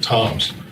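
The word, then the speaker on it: Tzomes: The first black man and officer of submarine was uh Pete Toms, spells his name TZ O- S, but he pronounces it Toms.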